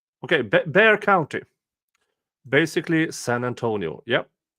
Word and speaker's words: Bexar: is in Bexar County pronounced bear what are you French with letters you don't pronounce okay Bear County basically San Antonio